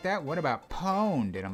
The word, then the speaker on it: Pwned: You're supposed to say it without a syllable. Taking a syllable out would mean that it was originally like poned.